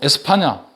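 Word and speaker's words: España: 에스파니아 목에 스페인을 하냐면 스페인은 영어식 발음이 요 영어식 발음이 고 에스파냐 는 에스파냐 사람들이 자기 나라 이름을 말할 때 에스파냐 라고 하는데 어 그래서 근데 지금에는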